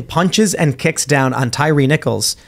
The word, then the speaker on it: Tyree Nichols: down on Tyree Nichols is that it pronounce it Tyree Nichols I was calling him Tire nickels before I couldn't tell because like if it was Tyree I think it'd be like two e's but I'm not trying to get his